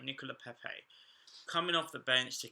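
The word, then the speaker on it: Pépé: Finally pronounced it right, Nicola Pepe.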